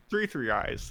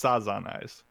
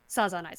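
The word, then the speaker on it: 3×3 Eyes: 3 eyes. The X is silent. No, it's Sazan Eyes. Sazan Eyes.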